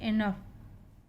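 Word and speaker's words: enough: कॉफ, इसको बोलते हैं इनफ, टफ। OUGH, यहाँ पे OU साइलेंट है, इनका उच्चारण हो रहा है बस, सभी में OU साइलेंट है।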